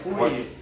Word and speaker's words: Fourier: Pronounced for being it's French, obviously I have to write phonetic. Fourier series. Okay, alright. Fourier. Fourier. How do you even write that? Yeah, you say four with a French accent.